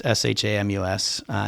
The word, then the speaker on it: Shamus: Spelled it phonetically, so it's Shamus instead of Seamus.